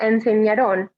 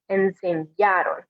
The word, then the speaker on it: enseñaron: And again, remembering that when you pronounce it, it's that A in the middle, that's where the stress goes. So it's not enseñaron, but enseñaron, making sure to stress the middle part of that verb.